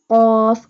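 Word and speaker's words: قاف: This one qaf will be bold because this qaf have dots. Qaf alif, qaf. Pronounce qaf from the root of the tongue touching the soft part of the palate.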